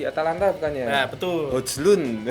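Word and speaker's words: Højlund: Hojlund. Highland. Tulisannya Hojlund ya, Hoyland ya. Bacanya Hoyland.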